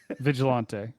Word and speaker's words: vigilante: Vigilante is the right way. That's what Kel's saying. Okay, got it. The thing with vigil just a soft G.